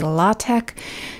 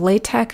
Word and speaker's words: LaTeX: It's not an X sound at the end. A lot of people say latte instead of latte. Both are correct. It's just a matter of preference.